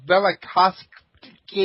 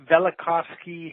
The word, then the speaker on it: Velikovsky: the is that pronounced Velikovsky ended Velikovsky heresies okay so that v is kind of silent that's right it sort